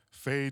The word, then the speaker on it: fais: Fais. Yeah, fais.